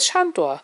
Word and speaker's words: Sandor: Ich heiße Chandor. Chandor wird übrigens mit S geschrieben und darf auch wie ein Sch ausgesprochen werden.